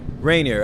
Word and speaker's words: Rainier: I read it I wasn't sure how to pronounce it so it is raining or not snot Rainier but rainy or Rainier after Mount Rainier and slam yeah yeah and